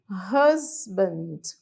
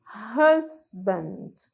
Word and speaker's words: husband: a leitura dessa palavra esse H tem som de r r husband husband husband agora a palavra esposa